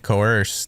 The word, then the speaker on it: coerce: I think in the video she said she didn't mean R, she meant coerce and mispronounced it.